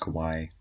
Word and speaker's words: kawaii: At that minute he thought to himself, Starpaw's so kawaii. Look at her eyes and her fur. I know it's pronounced kawaii. I just don't think that the author knows.